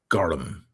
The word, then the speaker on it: gorm: Celtic languages have so the Irish word for blue is g o RM gorm but it's pronounced gum gum yeah so film